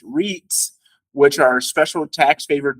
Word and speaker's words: REIT: most real estate investment trusts or Reit pronounced REITs which are special tax